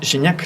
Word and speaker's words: Gignac: O sea, pero Gignac es Gignac, no es Guignac.